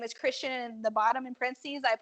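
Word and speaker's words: Kristian: STI a n and maybe one out of every a million times people say my name do they say it right like when the people at Starbucks go Christian I'm like good job I usually say it Kristen Kirsten Kirsten those those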